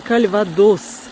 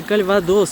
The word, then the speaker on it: Кальвадос: Регион Кальвадос. Пожалуйста, по-русски говорите Кальвадос с ударением на последний слог, так же, как и по-французски. Ни в коем случае не Кальвадос.